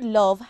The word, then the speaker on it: love: than sounds for example the word love has four letters l o v e but three sounds o V love we will practice more